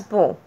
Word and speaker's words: beau: Like the first one, this one is pronounced as bow, and the feminine is bill.